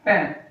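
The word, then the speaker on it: pain: Pen. Pam is bread. In English we say bread but in French we call bread pen.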